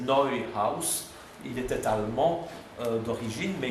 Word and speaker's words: Neuhaus: Et c'était un certain monsieur on le prononce à la française, Neuhaus, c'est Neuhaus.